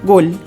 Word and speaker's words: gol: aqui com o termo gol que é o mesmo que o gol né do português mas aqui a gente tem que ter foco na pronúncia do l então Gol eu digo gol agora falando sobre os